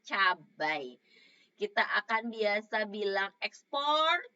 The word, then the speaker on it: cabai: biasa juga bilang sehari-hari itu cabe padahal sebenarnya punya cabai kita akan biasa bilang